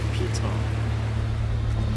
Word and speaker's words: piton: I looked up the pronunciation, and apparently it is piton.